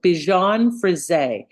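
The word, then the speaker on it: Bichon Frisé: you say it good that's a weird pronunciation it's not weird I'm so sorry it's French I am not insulting you French that's just not how we sound words out here so Bon fris it's a popular trendy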